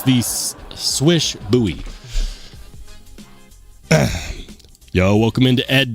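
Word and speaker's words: Slysz Bowie: It's pronounced like swish swish, like you know when you're good at shooting basketballs. So that's why I call it the swish buoy instead of the slge.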